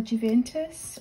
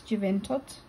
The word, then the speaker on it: Juventud: Yeah, so a lot of people say Isla Juventus, or Juventus even, but there's a D at the end. I'm not claiming that I'm an expert on pronunciation or anything, but I would say that's Juventud. And there she is.